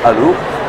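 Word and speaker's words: Allauch: Ça s'écrit Alloche, mais ça se prononce Allo.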